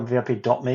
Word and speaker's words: VIP Me: You mentioned VIP Me. I never know if it's VIP Me or VIP.me because it's spelled VIP.me. It's VIP Me, if I remember rightly.